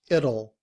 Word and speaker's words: it'll: The T sounds like D. And we put it together. It will becomes it'll it'll I don't know if it'll rain.